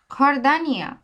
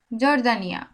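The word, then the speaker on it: Jordania: বর্ণ খ এর মত উদাহরণ দেখেন খরদানিয়া খরদানিয়া খরদানিয়া খরদানিয়া বুঝতে পারছেন দেখেন খ এর মত উচ্চারণ করছি আমি কিন্তু স্প্যানিশে ইংরেজিতে যদি বলতাম তাহলে কি বলতাম জর্দানিয়া আসলে জর্দানিয়া না খরদানিয়া খরদানিয়া যেকে বলে খোতা খোতা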